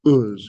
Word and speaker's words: Uz: In all the other books, it's going to be identified as Uz, U-Z. Nobody knows where U-Z is, Uz, how we pronounce that.